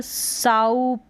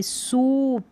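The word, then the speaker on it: soup: अब यहाँ पर साउप, इस तरीके से नहीं, सूप।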